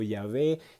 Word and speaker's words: Yahvé: judía en esa época, que era Jehová o Yahweeh o Yahvé, ya según como lo quieras pronunciar.